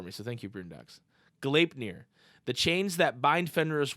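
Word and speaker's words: Gleipnir: He included the pronunciation for me, so thank you, Broondox. Galeipnir.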